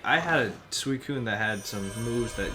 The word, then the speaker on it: Suicune: So hey, and Suicune, is that how you pronounce it? Suicune, yeah.